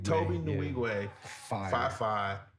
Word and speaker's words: Nwigwe: Toby Nwigwe. Toby Nwigwe.